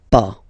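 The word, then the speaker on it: pas: verb and after that pa okay we write it p s okay but as usual final s is not pronounced So it's b okay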